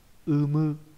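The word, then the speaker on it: 有無: Umu. Đây, cái này nó hơi khó viết cho các bạn cái đọc này. Vô với lại hữu với lại vô đọc là umu, là có hoặc là không có.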